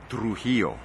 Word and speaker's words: Trujillo: This is an exclusive, the real pronunciation of his last name. Trujillo.